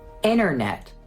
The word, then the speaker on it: internet: Another phenomenon that involves the T is its complete elimination. And this happens after an N. Internet, interview, Santa Claus.